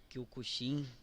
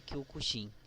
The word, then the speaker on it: Kyokushin: É um karateca do Kyokushin, Kyokushin, né? Cara, eu acho que a pronúncia normal é Kyokushin, mas eu tinha um conhecido num grupo que, benza a Deus eu saí, o cara falava Kyokushin.